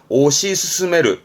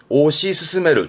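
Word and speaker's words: 推し進める: 그렇죠 맨 처음에 했던 추진을 동사로 쓰면 이렇게습니다 발음은 오시 스스메르 오시 스스메르 추진하는 요런 식으로 복합 동사로 좀 많이 쓰지요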